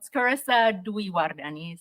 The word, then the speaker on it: Carissa Dwiwardani: how to say my name that's okay um scissa dardan is my name but um my my talk